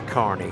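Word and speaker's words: Kearney: and we stayed in Carney, which is pronounced, I mean, looks like K, but it's we the carne the the locals assured us it's Carney.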